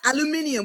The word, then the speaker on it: aluminium: Aluminium. We call it aluminium in England. So Okay, I is learned. the American pronunciation.